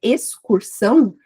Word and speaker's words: excursão: Agora, na palavra excursão, a gente fala separadamente, como se X fosse fosse uma letra S.